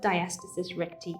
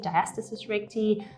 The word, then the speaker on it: diastasis recti: diastasis recti is now you may have heard this pronounced in a few different ways diastasis reiki diastasis recti diastasis recti it is a latin term um and sometimes these things are just pronounced slightly differently by different people but basically it is